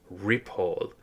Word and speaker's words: Ripoll: what I'm looking at on the page to rile, which is spelled R I P O L.